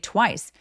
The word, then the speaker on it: twice: 그래서 they explained to me twice. 요런 느낌이죠. 할 때 TW와 아니고요. Twice 소리는 이름절 하나예요. Twice twice 입술 중이라서 twice 렇게 발음하시면 됩니다.